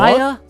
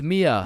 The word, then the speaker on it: Mia: Maya? Is Maya present? It's Mia.